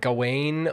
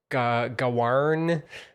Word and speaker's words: Gawain: poem it centers around gawain or gowan they say it like three different ways it's they totally do